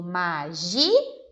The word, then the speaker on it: magia: letra de nós temos magia e eu separo mas gia e eu tenho que pintar a sílaba gi que é a sílaba tônica da palavra eu digo magia percebam como ela é